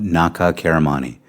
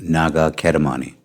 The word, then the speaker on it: Naga Kedamani: I am a direct descendant of Naga Karamani. The correct HoChunk pronunciation of his name is Naga Kedamani.